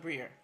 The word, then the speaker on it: Briere: Just say Brier, I guess. I mean, Brier is how you say it.